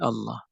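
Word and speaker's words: الله: bahasa Indonesia kata nah Allah itu awalnya adalah al-ilah Kemudian hamzahnya untuk memudahkan pengucapan dihilangkan sehingga menjadi Allah nah seperti itu sama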